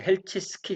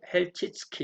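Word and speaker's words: Chelčický: 페테르 헬 치키 예 제가 그 번역할 때는 헬 티스키 그렇게 했는데 요즘 다시 또 찾아보니까 페텔은 헬 찍 스키 이렇게 발음을 합니다 2분은 그 태어난 에도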